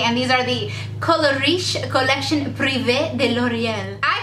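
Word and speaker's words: Collection Privée: And these are the Colorish Collection Privee de L'Oreal.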